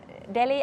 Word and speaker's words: Delhi: So I have been 1 week in Delhi, and then, is it without the silent H? Yes. Right. Did I say it right? Yes, absolutely right.